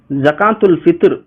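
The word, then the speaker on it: زكاة الفطر: என்ன அர்த்தம் என்று பார்த்தா ஜகாத்துல் பித்ர் என்றும் சொல்லுவாங்க ஜகாத்துல் பித்ரா என்றும் சொல்லுவாங்க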